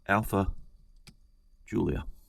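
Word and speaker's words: Alfa Giulia: But what I've made a decision, I've acted on it, and what I've come up with is the Alpha Giulia.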